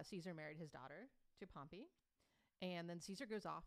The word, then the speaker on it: Pompey: he married her to his frenemy a man named pompey yeah uh and pompey is spelled p-o-m-p-e-y it's not pompeii it's yeah and pompey